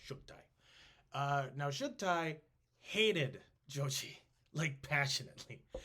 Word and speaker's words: Chagatai: Chagati is how we usually pronounce it. Chagatai. But I believe it's pronounced Shugtai.